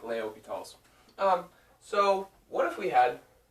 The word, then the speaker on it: L'Hospital's: This says L'Hospital's rule, but it's French, so you pronounce it Leopital's. Something like that. Probably not that good because I don't speak French, but you know, something like Leopital's.